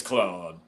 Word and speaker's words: Clyde: And it's spelled Clyde, but I believe he pronounces it Billings Claude.